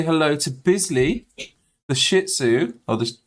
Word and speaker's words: Shih Tzu: uh desert please say hello to Bisley the Shih Tzu or the shisu as it's actually pronounced two years old as of May 12th